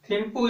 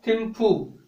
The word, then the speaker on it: थिम्पू: थिम्पू या थिम्फू, यानी दोनों उच्चारण में आ जाते हैं।